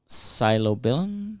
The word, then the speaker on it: psilocybin: So it's psilocybin, psilocybin. That's how you say it.